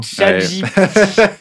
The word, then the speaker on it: ChatGPT: Donc, Ouh, je prononce reste. à l'anglaise. exactement. Quelle fraude, Léo. ChatGPT.